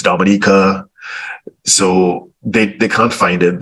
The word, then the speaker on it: Dominica: And you know, it's Dominica, So they can't find it.